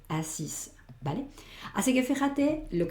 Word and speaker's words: assis: Je m'étais assis, aquí sí que esta S se escucha. ¿Por qué? Porque ahora la final va a ser la E. Esta E sin acento no se pronuncia. Entonces, ¿dónde me paro? Sí tengo que escuchar, me paro en la S, con lo cual hago ese sonido S, assis.